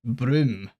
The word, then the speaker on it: Brume: I started the stream it is pronounced broom and it's a French word I I came in here absolutely convinced I was going to pronounce it broy the entire time that